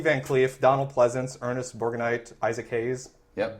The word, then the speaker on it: Borgnine: Kurt Russell doesn't count, but Lee Van Cleef, Donald Pleasance, Ernest Borgnine, Isaac Hayes. Yep. Berg Knight. I said his name wrong.